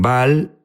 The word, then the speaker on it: Baal: Unos dicen Baal, Baal es la pronunciación correcta.